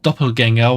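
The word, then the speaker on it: Doppelgänger: moment later that doppelganger was actually written with an with the A with 2 dots above, which is pronounced this A sound, contrary to what stuff is, or to what is mostly written in English with just an A, which is the original German writing of the word.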